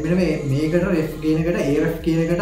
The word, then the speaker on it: Ahrefs: ඉතින් මෙන්න මේකට ref කියන එකට Ahrefs කියන එකට අපි මෙතන මේ දැන් සාමාන්‍ය එච් අකුර pronounce කරන්නේ නැහැ.